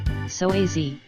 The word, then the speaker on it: psoas: The psoas, which is pronounced psoas, plays a huge role in the movement of the human body.